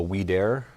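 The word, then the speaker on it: Audere: here um i got the what's called the weed air it's spelled a-u-d-e-r-e um at versus but it's pronounced wheat air it's a french company i believe french but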